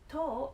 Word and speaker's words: 十: number one toe toe toe means ten toe is the pronunciation of cream yummy so let's